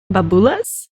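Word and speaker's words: Μπαμπούλας: let's see what Greece has for a boogeyman and greet the common translation of boogeyman is Bob las which is pronounced Bob ULA's well excuse me the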